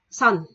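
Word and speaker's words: 선: Đó là sờ, O và N. Thì mình đọc là son.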